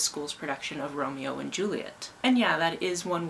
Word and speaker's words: Juliet: production of Romeo and Juliet. And yeah, that is one way that you pronounce that name, especially because it doesn't have an extra TE at the end to make it et. It's Juliet.